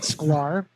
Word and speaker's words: Schklar: And then, my name is Schklar, rhymes with scar.